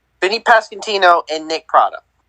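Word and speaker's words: Pasquantino: how do you say his last name vinnie pascantino vinnie pascantino and nick prada like like come like come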